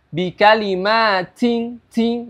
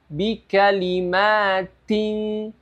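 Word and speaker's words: بِكَلِمَاتٍ: Contohnya, bikalimatin tin ya, itu berlebihan. Bikalimatin tin ya, itu berlebihan. Jadi bukan seperti itu cara membacanya. Cara membaca yang benar adalah bikalimatin, bikalimatin ya, tapi bukan ting, bikalimatin ya. Jadi hamsnya sedikit.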